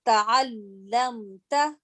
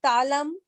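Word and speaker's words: تَعَلَّمْتَ: keep in mind that when we are pronouncing the lam, because of the shadda, we have to put some pressure on the lam. So it is ta'allamta, ta'allamtuma, ta'allamtum, right?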